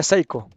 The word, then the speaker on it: Pisco: Que según la gente de élite se pronuncia Psycho.